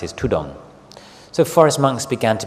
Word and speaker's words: tudong: So dhutanga became tudong. The Thai word, the derivation or the way it's pronounced is tudong.